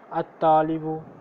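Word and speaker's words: الطالب: फिर साइलेंट कर दिया, अत्तालिबु लाम को साइलेंट कर दिया।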